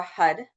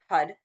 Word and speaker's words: Har: And now we're going to be working with the mantra Hud. Hud. It's h a r but pronounced like h u d.